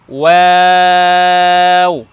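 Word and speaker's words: واو: জি, তারপরের বর্ণ দেখুন, আমরা লিখেছি ওয়াও ওয়াও। দুইটা বর্ণ আমরা পেলাম এমন, যে দুই বর্ণকে উচ্চারণ করার সময় ঠোঁট গোল করতে হবে।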